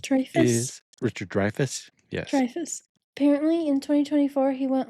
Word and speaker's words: Dreyfuss: Dreyfuss.